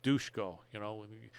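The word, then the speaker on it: Duško: Dusko, they actually pronounce Dushko, I knew that.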